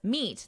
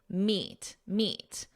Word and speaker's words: meat: Meat is the same as meat, that long E, meat.